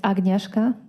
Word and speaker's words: Agnieszka: the record yes good morning my name is agnieszka that's spelled a g is in gregory n is